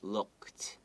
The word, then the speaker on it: looked: Look. The look, and then add ed, looked. Okay, there's a kt sound. The d kind of sounds like a t, right?